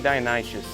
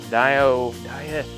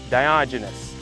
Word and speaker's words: Diogenes: But very much like, I keep saying Dionysius. I'm mispronouncing his name, but Diogenes. I don't know why I have trouble pronouncing that. Diogenes.